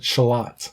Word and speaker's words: Charlotte: pronounce charie and tones tones that are spelled Charlotte and you pronounce it shalot a first first of